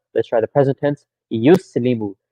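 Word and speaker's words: يُسْلِمُ: Yuslimu. So the ya starts with dhamma. Good start. Yus. Second letter has sukoon. Good. Li. Third letter has kasra. Mu. Fourth letter has dhamma.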